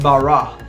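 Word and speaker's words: ברא: That word created, if you break it down and translate it back into the original Hebrew text, is actually a word pronounced bara.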